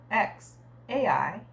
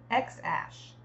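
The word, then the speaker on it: X Æ A-12: a podcast musk said the first part is pronounced X Ash with X read like The Letter however Grimes whose real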